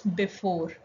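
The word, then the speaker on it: bevor: Next one is before. In English, we call it before or prior. Here you can see V is pronounced as F. That is why it is before.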